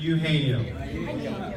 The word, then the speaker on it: Eugenio: In America, he's known as Eugenio, sometimes. But we're all going to say it properly and name him the way his parents named him in Eugenio.